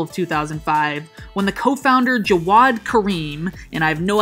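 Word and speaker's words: Jawed: 2005 when the co-founder jawad Kareem and I have no idea if I pronounced that correctly it's spelled J a w ad kind of just sounds like a little kid trying to say Jared but I guess it's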